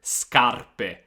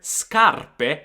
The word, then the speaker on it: scarpe: di scutere scale scale scarpe scarpe let's talk for a second about the word scarpe shoes now as you can hear scarpe is a heart sound because we have sc plus a but if you get